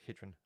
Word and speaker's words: Gydran: is actually not pronounced Gan it's pronounced hrin I believe that's the right way to pronounce it it's a Welsh word and I lived in